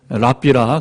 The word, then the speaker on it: 랍비: 자, 유대인 지성인들, 지혜자들을 랍비라 그렇게 부릅니다. 영어로는 라바이 하는데 원래는 랍비예요. 랍비. 영어식어라는 것은 이제 영어식 발음이고, 랍비들은 헬라인들처럼 학원을 차리지는 않았습니다.